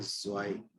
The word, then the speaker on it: zwei: टू की जो spelling है हमारे लिए है ZWEI एंड इसको बोला जाता है ज़्वाई। ये जॉ नहीं है, जो के नीचे बिंदी यहाँ पे इसको बोलते हैं ज़्वाई।